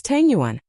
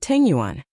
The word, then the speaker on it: Tang Yuan: Chang Chumo glared and said angrily, "It's Tang Yuan. Not Tengyuan.